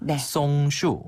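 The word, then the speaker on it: 松树: 이것도 쉽네요 이것도 쉽죠 소나무 소랑 좀 발음이 비슷하니까 송 슈네 한번 더 슈 슈 나무 송자로 써요 그래서 송 슈라 합니다 어 송 슈네음 송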